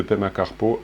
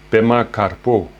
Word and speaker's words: Pema Karpo: toujours la prière de pma carpeaux à thiennes rési pema capot pour le prononcer à la tibétaine ou puma carpeaux la cinquième partie cinquième